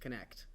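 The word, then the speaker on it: Knecht: belon can guy connect connect connect guy it's not spelled like connect it's spelled like k n e c HT super stupid but um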